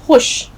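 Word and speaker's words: خوش: अब देखिए यहाँ आपको 2 चीज़ों का ख्याल रखना है, खुश में उच्चारण, प्लस देखिए खुश में एक हर्फ, एक अल्फाबेट लगा हुआ है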